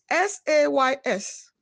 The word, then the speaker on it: says: e i in receive sound number three e s-a-y-s no it is says notes letters a y in s-a-y are pronounced as a are different whereas the same